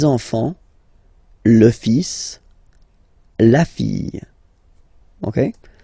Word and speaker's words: enfant: Same pronunciation here. Enfant. Don't pronounce the T, you don't pronounce the S.